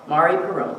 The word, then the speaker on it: Marie Perron: It's from Marie Perron, is that how you say it? M-A-R-I Perron. Marie Perron, thank you.